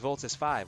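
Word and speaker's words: Voltes V: It was Voltus 5, wasn't it? Voltus 5 is a bit different. Instead of pronouncing it V, it's 5.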